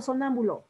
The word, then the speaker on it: sonámbulo: tenemos palabras esdrújulas y con su triste mirar sonámbulo las palabras esdrújulas son las que se acentúan y éstas siempre son con tilde en la antepenúltima sílaba por ejemplo sonámbulo última sílaba es la penúltima butt lahm es la